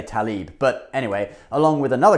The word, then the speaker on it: Tlaib: So this act was proposed by Democratic Congresswoman Rashida Tlaib, or Tlaib, the L comes before the A. Most people say Tlaib, but anyway, along with another congresswoman whose name is also hard to pronounce.